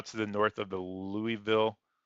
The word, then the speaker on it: Louisville: the north of the Louisville leoville I think is how you say that see if we